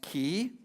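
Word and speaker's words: כי: That Hebrew word is pronounced ki, and it means because or for.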